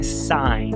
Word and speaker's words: sign: Com GN, assinar ou sinal, que é sign.